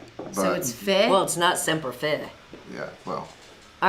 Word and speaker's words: Fi: Always Fi like high.